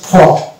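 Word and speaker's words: faux: অর্থাৎ এক্স থাকবে এখানে এই শব্দটির রচনা হচ্ছে ফ এফ এ ইউ ফ অর্থাৎ এক্স কে আমরা উচ্চারণ করবো না তাহলে আপনারা এই ওয়ার্ডটিকে লিখে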